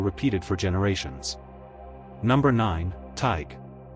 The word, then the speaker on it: Tadhg: Number nine, Tadhg. Pronounced like T Y G, rhyming with tiger without the er.